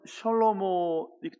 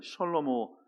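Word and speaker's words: שלמה: 솔로몬을 히브리어로 발음하면 셜로모, 이 정도 됩니다. 셜로모.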